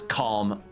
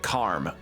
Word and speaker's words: calm: hold on damn but people in Yorkshire pronounce it like ch Karm oh oh oh okay so it is calm it is calm but depending on the region it sounds like Karm okay got it I've